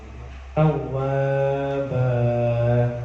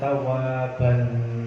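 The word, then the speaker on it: تَوَّابًا: Nah, banyak itu fathah tanwin itu bukan tawaban, bukan tawaban.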